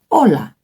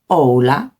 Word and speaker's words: hola: So with that, hola is hola, not hola, because the U is not written. We say hola.